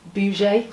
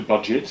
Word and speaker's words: budget: Budget, not budgie. But what do you know about but not birds? The bouget. Am I pronouncing that correctly? It's the budget.